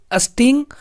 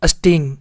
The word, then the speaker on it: sting: ठीक ना दोस्तों, इसको पढ़ेंगे किस तरह से प्रोनाउंस करेंगे, स्टिंग मतलब, ठीक ना। एस टी को आधा सा और टा और आई एन जी को इंग पढ़ते हैं, तो सब मिलके क्या बन गया, स्टिंग।